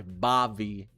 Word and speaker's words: Bavi: It's spelled B-A-V-I. Bobby. But I call it Bobby.